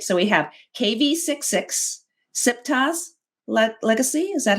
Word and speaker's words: Siptah: And I might need you to help me with the pronunciations to make sure I get it right. So we have KV66, Siptah's Legacy. Is that how you say that? Siptah?